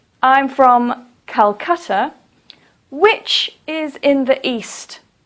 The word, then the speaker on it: Calcutta: police say Hanoi or for example Calcutta please don't say Kolkata Police say Calcutta the reason that we